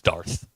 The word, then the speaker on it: Darth: DQ, do you think it's Dark Vader? It's Darth.